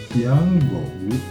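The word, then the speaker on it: 天狗: Its pronunciation is Chinese Tiango.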